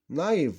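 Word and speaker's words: knife: نايف سكينة، نايف والكي هنا ساكنة لا تنطق، نايف سكينة بقت نايفز سكاكين.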